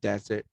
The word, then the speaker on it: desert: cakes or something but if you come across the spelling like this with only one s instead of two the pronunciation will be desert and this means gurun